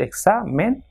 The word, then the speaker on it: examen: So it has got 2 syllables, examen. So the second last will be stressed, that is exa. So examen.